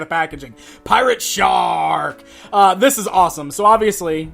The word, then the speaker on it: Pirate Sharrrk: finish off the look pirate shark that's actually how you have to say his name because there's like three or four R's and the word shark on the back Packaging pirate shark this is awesome so